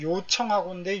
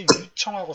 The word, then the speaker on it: 요청하고: 그 다음에 멜리사 씨도 봤더니 환불을 요청하고인데 유청하고 써있더라고. 환불을 요청하고. 근데 이거를 환불을 유청하고로 썼어요. 유청하고. 네. 그러니까 이거는 뭐예요? 이것도 마찬가지로 이거랑 비슷하게 요 발음하고 유 발음이 헷갈린 거잖아요.